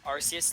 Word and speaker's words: Arceus: Arceus, there you go.